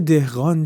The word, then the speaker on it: dehghān: the Persion term and Because Arabs could not pronounce the hard g, they replaced it with the gh and the term became "dehghān".